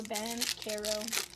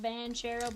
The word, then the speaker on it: Banchero: Ban Carol. Ban Carol. Not Berero, but Bero. Kelby White and Kuminga.